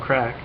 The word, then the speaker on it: Craic: crack yeah they're like today we're talking about crack all right should I should I just mention real quick that it's pronounced crack but we're just going to call